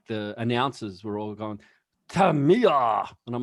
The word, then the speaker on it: Tamiya: the uh like the announcers were all gone tamiya and i'm like oh so that's how you pronounce it it is tamiya yeah yep tamiya so welcome to tummy our